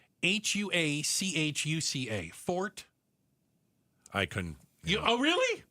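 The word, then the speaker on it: Huachuca: Um, it's pronounced hua cua. Fort I couldn't. Oh, really? No. Wuka.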